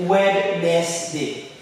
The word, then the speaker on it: Wednesday: For example, you see a word like Wednesday, right? It's spelled as W-E-D-N-E-S-D-A-Y. If you just follow with the step-by-step the sounds you're seeing, you will say Wednesday, right? But actually it's pronounced as Wednesday.